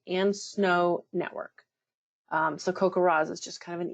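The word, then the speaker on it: CoCoRaHS: those of you who may be new to Cocoa Ras that's how you pronounce Co r a HS it's an acronym it stands for Community collaborative rain hail and snow Network um so kokar Ras is just kind of an easier way to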